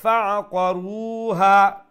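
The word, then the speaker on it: فَعَقَرُوهَا: তাড়াতাড়ি পড়বেন, ফাআকারু, রু লম্বা হবে, ফাআকারুহা, এরকম।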